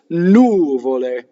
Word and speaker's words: nuvole: The normal stress in Italian is on the second to last syllable, right? For the most part, you'll be right. If you come across a new Italian word and you accent the second to last syllable. In this case, it's nuvole.